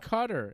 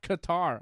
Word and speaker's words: Qatar: It's pronounced Cutter. It's not Qatar.